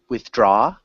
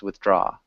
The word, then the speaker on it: withdraw: interest interest interests good withdraw the your pronunciation was really really good it's just the intonation is on the second syllable so it's withdraw so one more time